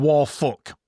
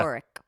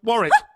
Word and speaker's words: Warwick: Ooh, go easy on the W. In fact, forget it's there. Warwick. There you go, Warwick. Very good. You just need a little tip, you see? Just a little snip. Yeah, just It's a like, little tip. Forget the W's, forget the second W's there.